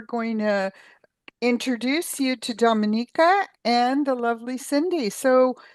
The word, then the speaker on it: Dominica: I think some people get confused and they think we're part of the Dominican Republic, but indeed we are not. We are our own island and it's pronounced Dominica and we're called the nature island.